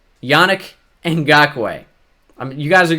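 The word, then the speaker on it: Yannick Ngakoue: good player and of course his name is pronounced Yannick and Gok way Yannick and Gok way I mean you guys are gonna get it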